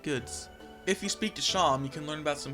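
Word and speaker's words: Seam: and meet a strange shopkeep proun sham pronounced sham they welcome you into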